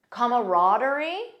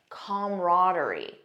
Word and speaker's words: camaraderie: word camaraderie or comaraderie notice the first pronunciation has an extra sound comma camaraderie the second one just says come camaraderie most American speakers in my experience say camaraderie that's the one that I personally use this is a noun